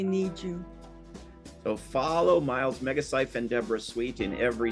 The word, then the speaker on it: Megacyph: Everywhere you look, it's Megacyph. Rhymes with life.